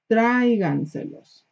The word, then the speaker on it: tráiganselos: Okay, again, we added two extra syllables. We gotta emphasize, we have to tell people that you still gotta stress the original one. Tráiganselos.